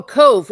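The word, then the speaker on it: Cobh: Oh, cove.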